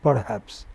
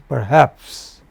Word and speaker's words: perhaps: remain suggest control perhaps It is not perhaps. It is perhaps.